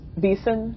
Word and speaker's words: VCIN: It's pronounced VECIN.